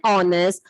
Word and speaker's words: honest: It begins with a consonant letter H, but here H is silent.